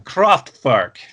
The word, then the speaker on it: Kraftwerk: craftwork or croft burke i'm never sure if i'm supposed to say it uh the way it would look to my american eyes or if i should pronounce it the way florian schneider would have pronounced it uh you gotta say like florian rossi's gonna okay all right then croft park um thank you so